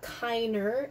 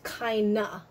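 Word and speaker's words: keiner: and fan kaina so anytime you see an e an er it's not kiner it's kinda it's almost kind of an english accent that's happening there but it's kinda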